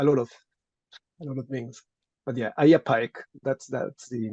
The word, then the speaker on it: Ai Apaec: Oh, Ayapaek. It's hard to spell it, but we also call it the decapitator god, because in Moche he appears decapitating a lot of things. But yeah, Ayapaek, that's the name.